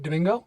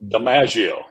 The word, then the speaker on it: DiMaggio: Is it Domingo? DiMaggio. DiMaggio. Joe DiMaggio. Oh, yeah. It's like Joe and Joe.